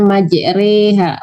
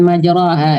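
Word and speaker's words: مجراها: di bawah ya mand ya bacanya majreha bukan majraha Ya seperti yang tertulis ya tapi dimiringkan ke maj bismillahiurs innabiururahim wahiya tajri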